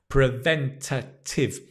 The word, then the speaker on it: preventative: health preventative health right preventative when you've got a long word just break it down Prive watch the shape of the mouth prent preventative watch the stress preventative preventative health good what